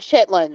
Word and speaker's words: chitterlings: It's the Yeah. proper name for chitlins. It's like we don't Chitterlings. say Mary Okay, I've Maryland. only ever heard chitlins, Me so too. I thought it was spelled like Yeah.